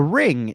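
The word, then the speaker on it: リング: think it translated to Ringu is what it's known as over here, but really in Japanese you wouldn't pronounce the U, it'd just be ring.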